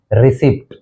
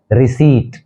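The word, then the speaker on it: receipt: हैं और वह है रिसीप्ट रिसिप्ट इसमें यह जो पी है यह साइलेंट है यह टू सिलेबल वर्ड है इसका जो उच्चारण होगा वह है रिसी रिसी एक्चुअल जो इसका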